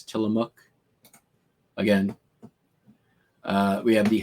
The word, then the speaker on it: Tillamook: oregon along the oregon coast it is not pronounced tillamook as was me recently mispronounced by uh seth meyers in corrections it's not tillamook it's tillamook again uh we have the hotel seaside in